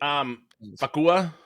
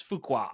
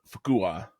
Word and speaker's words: Fuqua: Fuqua? Nope, it's Fuqua.